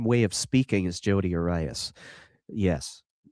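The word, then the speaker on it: Jodi Arias: She is a Jodi Aries. or Eris, or however you say that one. Arias? I think it's Arias.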